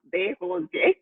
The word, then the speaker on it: Derosier: That's pronounced Derosier. It's Haitian.